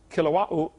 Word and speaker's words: Kilauea: Basalt from Mount Kilauea, however you say it. They pronounce every vowel over there in Hawaii.